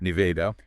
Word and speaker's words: Nevada: And if you're heading out west, remember in Nevada, stress is on the second syllable with a short a sound like an apple. Nida, not nie. Nevada and Missouri.